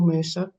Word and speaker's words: MRSA: These are this is information that I felt, when I was a patient trying to overcome MRSA or MRSA, as some people pronounce it.